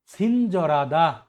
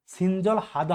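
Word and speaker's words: 친절하다: সিনজরাদা উদার বা দয়ালু, সিনজরাদা উদার বা দয়ালু। এটা কিন্তু সিনজল হাদা হবে না, এই রিওলটা হিওতের জায়গায় চলে যাবে, তাহলে আপনার সঠিক উচ্চারণ কি হবে, সিনজরাদা উদার বা দয়ালু।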